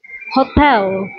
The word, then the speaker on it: hotel: party Gato Gato h Hotel hotel ang L nila dito guys is parang w Hotel hotel pag nasa